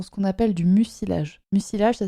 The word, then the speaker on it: mucilage: Mucilage, ça s'écrit M-U-C-I.